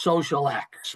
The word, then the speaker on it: xosialx: Remember, you saw it's spelled a little funky, but it's pronounced Social X.